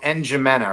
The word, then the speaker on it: N'Djamena: So you get to Chad, and the capital city is called N'Djamena, right? It's spelled N'Djamena, which is, whatever.